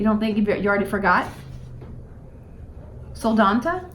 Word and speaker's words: Soldotna: So Mom got a couple tips on how to pronounce things. I don't know that it helped any. You don't think you already forgot? Soldotna? Soldotna.